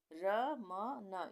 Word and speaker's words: रमन: रहे हैं रमन रमन र के भी आगे अ का उच्चारण आ रहा है म के लिए के आगे भी अ का उच्चारण आ रहा है पर लास्ट में अ का उच्चारण नहीं आ रहा है बोल के देखें